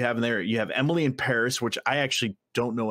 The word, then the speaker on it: Emily in Paris: supposed to pronounce it Emily in Paris because it's a. It's a rhyme, so it's Emily in Paris. Like if you were pronouncing it like a French person.